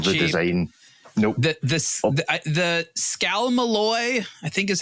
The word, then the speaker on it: Scalmalloy: The Scalmalloy, I think is how it's pronounced, is the material used to make the case.